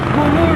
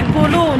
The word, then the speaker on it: Gulu: There is a lady, she's Ugandan, she's based in Gulu. Yes, I've been told we pronounce Gulu wrong. It's supposed to be Gulu, not Gulu.